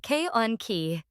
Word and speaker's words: conchae: These are called nasal conchae, pronounced K-on-ki. Singular is concha.